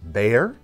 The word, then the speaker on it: Bexar: last week called the Bear. Sorry, Texans, for mispronouncing it. On the page, it says Bexar. I didn't realize it was pronounced that way, so my apologies.